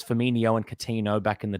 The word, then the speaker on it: Firmino: with a ch, and then he was also pronouncing Firmino as Firmino, which is just a classic error that always gets done. And then they said Coutinho. So it's Firmino and Coutinho back in the day.